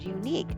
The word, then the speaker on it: unique: The article a would be used in front of words like united, university, and unique because they are all pronounced with the U sound of the consonant Y.